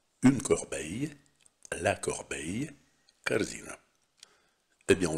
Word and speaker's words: corbeille: Et maintenant, entraînons-nous à prononcer les noms, ce geste vite, qui contiennent le son i. Commençons par le mot corbeille. Une corbeille, la corbeille, carzina.